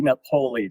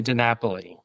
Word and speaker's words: DiNapoli: Napolei. Did I pronounce that all right? It's actually Denapoli.